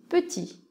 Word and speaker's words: petit: qu'il s'écrit comme ça avec un T à la fin mais le T ne se prononce pas donc petit pour mettre féminin on